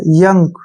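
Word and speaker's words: young: next word है वाई ओ यू एन जी योंग नहीं पढ़ना इसको अब यहां पर ध्यान रखना है जो वाई का उच्चारण होगा य के रूप में होगा ठीक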